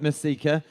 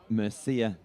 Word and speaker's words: Mercieca: now i've had confirmation it's not messika it's luke mercier so not like luke miseka that i've been saying all summer long luke mercier there's sort of a c that you pronounce and then the second see it's silent yeah he trains um